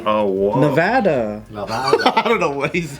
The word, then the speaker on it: Nevada: Nevada. I don't know what he's saying. They should get back to what happens here stays here. That's Am I better. saying it wrong? It's not Nevada, it's Nevada. Yeah.